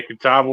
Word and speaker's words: catawba: Catapia worm? Catapa worm? Yeah, catawba worm.